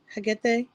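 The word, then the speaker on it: Hekate: like, you calling her Hecate? Am I saying it correctly? Yeah, I mean, Hagate. like, I spell it with a K.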